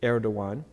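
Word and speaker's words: Erdoğan: different from our letters so that Gan is actually air dawuan he's the 12th president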